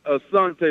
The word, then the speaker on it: Asante: It's Asante, like the tribe.